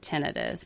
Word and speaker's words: tinnitus: word tendonitis and so I tend to use the word tenus because it kind of separates those words but both are actually correct pronunciations um but yeah so